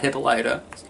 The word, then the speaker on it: Hippolyta: a part where Hippolyta, whose name I mispronounced in the animated review, and I had to hear about that. Sorry, Hippolyta, not Hippolyta.